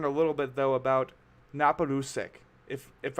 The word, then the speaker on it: Naparusek: little bit though about napolusic if if I'm pronouncing that right yep perfect sick I have a